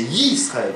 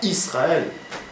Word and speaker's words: Yisraël: C'est Y-I. Puisque c'est un Yud. C'est pas Aleph, c'est Y. C'est Yud. Yud et Chirik. Ça fait Yisraël. C'est pas Israël.